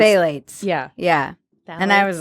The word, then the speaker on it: phthalates: he was saying it's a ph but it's pronounced phthalates yeah yeah and i was like okay trying